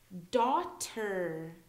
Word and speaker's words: daughter: above okay uh so we don't really pronounce the G and H together here daughter so we can hear the d a t e r d a u t e r but we can't really hear the G and H daughter